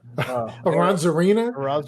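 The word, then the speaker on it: Arozarena: Aranzarena? Aranzaria? Yeah. Aranzaria.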